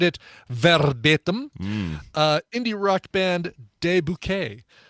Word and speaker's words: De Bouquet: Indie rock band De Bouquet. It's spelled just like it sounds. De, D-E, Bouquet. B-O-U. Q-U-E-T. Sure.